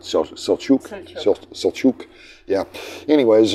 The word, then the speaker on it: Selçuk: The name of the town in modern times is called Selçuk. I think is how they pronounce it. Selçuk.